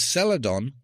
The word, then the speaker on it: Celadon: Spelled with a C. C E L A D O N. What color is Saladon most similar to?